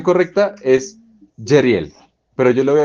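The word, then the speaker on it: Jezreel: Aquí el nombre que continuamente hemos pronunciado como Jesrel, en verdad se pronuncia Jeriel.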